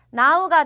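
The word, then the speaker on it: หนาว: 그래서 요거는 나우가 되죠. 왜냐? 허입 소리 안 나니까. 허입은 소리 안 나고 나우라고 해주시면 되는데 고자음으로 봐주셔야 되죠. 얘가 또 얘를 바꿔주니까 고자음의 생음 몇 성이었죠? 사성이 되죠. 나우 이렇게 사성으로 해주시면 돼요.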